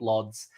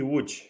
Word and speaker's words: Łódź: knights of slaanesh went 5-0 at gt i pronounce it as lords but i've been told very quickly in polish it is not lods uh what is it martial hi everybody it's gt wood i read l-o-d-z but there's also a lot